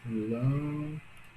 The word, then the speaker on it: lâmpada: Olha a lâmpada, sílaba mais longa, lã. Logo, a sílaba mais forte, a sílaba tônica de lâmpada é lã.